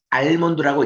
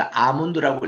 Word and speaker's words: almond: ALMOND 해서 이거를 알몬드라고 읽지 마시고 L이 묵음입니다. 그래서 아몬드라고 읽으셔야 됩니다. 긴 발음으로 아몬드.